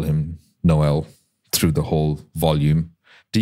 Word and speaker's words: Noel: author of 24 books Noel by the way is pronounced Noel not like here in Australia where people say n hash just saying so I'm going to call him Noel through the whole volume